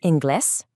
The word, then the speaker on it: inglés: In Spanish, that's hablas inglés. Remember the silent H at the start of hablas, and notice the accent on the E in inglés. That tells you exactly where to put the stress.